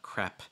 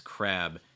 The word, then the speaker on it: crab: so it's not it's making sure that it's voiced at the same time you're making that b sound so it's not crap it's crab crab dulat says they like